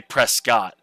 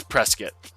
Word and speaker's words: Prescott: from out of town is if they say Prescott. It's big. Um I've brought it up to people who live in Prescuit when I'm up there. They're like, "Yeah, the proper way to say it is Prescuit."